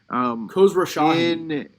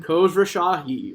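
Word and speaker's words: Khosrowshahi: I think, well, Uber CEO, Dara K, can't pronounce his last name. Khosrow Shahi. Say it again? Khosrow Shahi.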